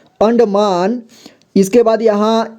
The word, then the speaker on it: अंडमान: आएगा ठीक है देखिए कैसे पढ़ेंगे अंडमान अंडमान ठीक है अगर नहीं बनता है तो इतना जोड़ जोड़ के पढ़िए दो-दो अक्षर अंड इतना अंड अंड हुआ इसके बाद मा न ठीक है म में आ की मात्रा मा और न अंडमान इसके बाद यहां ई